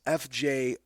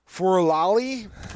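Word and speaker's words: Fjörulalli: And it is not, the Icelandic language is not phonetic. Not going to even pronounce it. I am not, no. I could tell you it's Fjorulalli. It's close to that.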